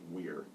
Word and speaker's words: vir: And so when I came across the Latin word "veer," which is actually pronounced "weir," but it just kind of sounded weird to do that.